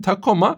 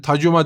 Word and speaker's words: Takoma: ama bir C harfine zaten takoma Türkçe olduğu için takoma diye okunuyor. Yani sen tacuma demiyorsun ki takoma diyorsun. Hasetlik devreye girdi.